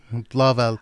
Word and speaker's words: Blauvelt: Yeah, it's more like a Dutch-German Blauvelt. Blauvelt. I tell people it's like Roosevelt.